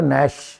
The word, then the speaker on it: gnash: GNASH, जी silent है इसमें, है GNASH। ठीक है, नैश।